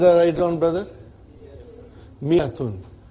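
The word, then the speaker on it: مائة: Miyatun. I wrote alif, but I did not pronounce.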